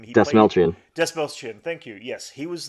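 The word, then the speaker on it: Dastmalchian: David, I can't pronounce his last name. Desmelchian. Desmelchian, thank you.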